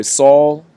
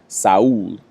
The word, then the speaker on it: Saul: up with my boy saul who was a very talented fighter uh also out of brazil he actually pronounces his name saud so you gotta get